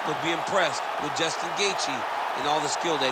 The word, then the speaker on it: Gaethje: lightweight champion of the world, Justin the Highlight Gaethje. All right, so you heard it there from Bruce Buffer. He even pronounced Gaethje right.